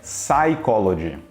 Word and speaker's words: psychology: Já no inglês é melhor você esquecer que esse P existe, porque a pronúncia correta é psychology, psychiatric, psychic, psychically e etc. A gente não fala o P, começa direto no S.